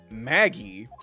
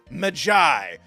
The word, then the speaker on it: Maggie: The victim did indeed leave a name, Maggie, but it is pronounced Magi.